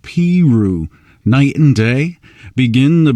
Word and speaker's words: Peru: Cole Porter was born in Peru, Indiana, pronounced Peru.